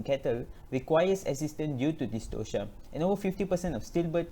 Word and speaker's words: dystocia: important to note that it should be pronounced as dystocia and not dystopia this is a common mispronunciation to put in simple